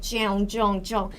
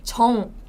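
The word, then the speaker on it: 정: It's not like Jeong, Jeong, Jeong. It's Jong.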